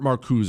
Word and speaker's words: Marcuse: Herbert Marcusa is how you say his name, I believe.